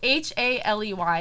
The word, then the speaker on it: Haley: we spell haley oh h a l e y it's like halle you know but i pronounce it haley and what's read oh